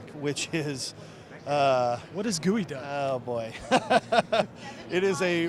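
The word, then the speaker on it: geoduck: hard to get and it's not gooey it's not actually gooey it's just a clam and it's not even spelled like guey I can't even spell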